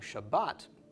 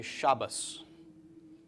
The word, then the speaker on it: Shabbat: table in Torah but instead of saying Shabbat they will say Shabbos because the table at the end of Shabbat does not have a doggish okay so you'll hear